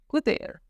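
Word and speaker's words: cutter: कटर in French will be कुतेर, spelling will be same but pronunciation is little bit different, कुतेर।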